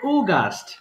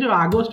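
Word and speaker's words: August: না এটাকে বলে ওগাস্ট দেখ ভালো করে এটাকে বলে ওগাস্ট কিন্তু আমরা দেখে আগস্ট বলেই আমরা থেমে যাই এটা হবে ওগাস্ট আসবে এরকম গাস্ট ওগাস্ট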